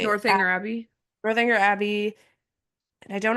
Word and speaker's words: Northanger Abbey: I think I can't remember if it was Northern Inger. I can never say it right. Northanger Abbey.